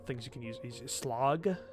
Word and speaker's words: slag: you can use is slog so it's s-l-a-g um but that in english if you're not put pronouncing it like norwegian it's slag and that has a